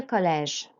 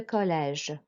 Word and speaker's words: collège: Après le collège. Après le collège. So on après and collège, you'll notice on the E the accent goes down. So we're going to make an sound. Après le collège.